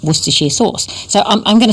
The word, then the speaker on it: Worcestershire: with a silent C-E-S in the middle, like Worcestershire sauce.